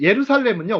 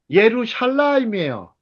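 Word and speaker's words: ירושלים: 자, 그러면 여러분들 혹시 예루살렘은요, 원래 발음은요. 예루샬라임이에요.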